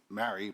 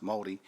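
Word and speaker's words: Māori: about um the weed was Mary but it's pronounced Maori around Maori resources in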